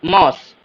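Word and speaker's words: Maus: puff बोलते हैं उसे माउस माउस मस मौस अब मौसी नहीं बोलिएगा माउस को आई आई नहीं लगा है ध्यान से मौस बोलेंगे रैबिट काशन काशन तो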